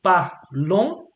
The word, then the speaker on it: parlons: Tu parles, il parle, and then you go nous parlons. You don't pronounce the S.